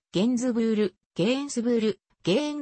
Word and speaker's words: Gainsbourg: チェーンなどで聴ける本人の発音はゲンズブールに近いフランス語の発音